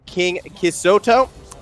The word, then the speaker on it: KingKisuto: Also, I will apologize to KingKisuto. That is how his name is pronounced.